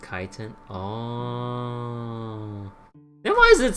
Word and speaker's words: chitin: And that's pronounced chitin.